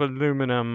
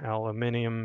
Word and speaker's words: aluminium: So just be careful with all of the pieces of aluminum or aluminium if you're across the pond, or use that preferred pronunciation.